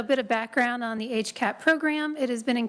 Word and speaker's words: HCAP: Healthcare Access Improvement Program, or HCAP. That's how we pronounce that acronym. So a bit of background on the HCAP program.